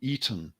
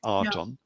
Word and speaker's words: Aten: Remember, the Aten is actually normally pronounced as the Eton more than the Aton.